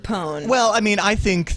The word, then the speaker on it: pwn: misspelling yeah I got I guess you have to say pone all right how else